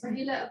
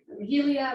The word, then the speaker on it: Rahila: It's always been Rahila, and people do pronounce it funny, but I kind of like it when the way they pronounce it. Like just kind of go with it, such as like Rahilia, Ralia, stuff like that.